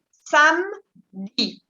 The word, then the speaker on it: samedi: Sábado, la esa E es muda, no se pronuncia. Vous dites samedi.